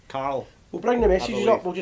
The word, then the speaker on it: Carl: I always pronounce it Carol, Carol, aye. which is unfortunately it's Carl.